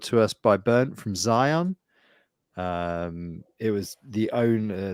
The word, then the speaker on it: Zion: that word other than we get Zeon a lot like it's wrong but but it's it is Zion so it's well zon would be with an E wouldn't it well like gas like